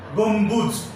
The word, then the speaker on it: গম্বুজ: 5, বফলা যদি ম এর সঙ্গে থাকে তাহলে সেই বয়ের উচ্চারণ হবে। যেমন লম্ব ময় বফলা, গম্বুজ বিলম্ব, রম্বস চম্বুক ইত্যাদি।